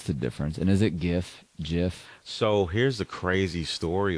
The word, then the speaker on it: GIF: And is it GIF? So here's the crazy story about that. And what's the difference the between that and creator memes? came out and said it's pronounced Jif, like the peanut butter.